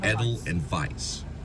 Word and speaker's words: Edelweiss: they're like a V it's like you say it like is as if adult like edel and then Vice like a vice like edel and vice and how do you